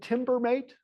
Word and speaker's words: Timbermate: No, it's called Timbermate. Timber, timber as in wood, and then mate as in good day, mate.